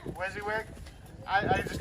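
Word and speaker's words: WYSIWYG: know so they need recognition uh did i pronounce that right is that how it wizzy is it's a wizzy wig wizzy wig i i just called wizziewick okay wizzywig uh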